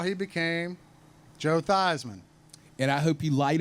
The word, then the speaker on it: Theismann: information director told him, we need to change your name from Thiesman to Theismann. He said, I think you've got a chance to win the Heisman. Theismann rhymes with Heisman.